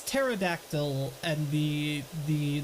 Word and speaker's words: pterodactyl: is it actually silent pterodactyl it's pterodactyl and the the the p is silent angles are so weird